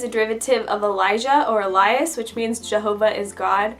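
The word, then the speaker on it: Ellia: We thought that if her name was E-L-I-A, it would seem more like her name was pronounced Elia, which isn't the name that we wanted.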